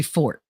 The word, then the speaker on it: forte: See, I refuse to say fort. I say forte because otherwise other people don't understand what the hell I'm talking about. No, it's true, but I will pronounce it incorrectly because that's how everybody else does it.